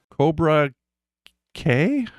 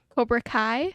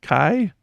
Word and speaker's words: Cobra Kai: Cobra K. Cobra Kai. Kai.